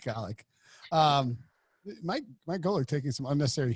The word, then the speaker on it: Golic: Also, fun fact: Mike Golick was going to do the show until Brinson called him Mike Golico. Mike Golick.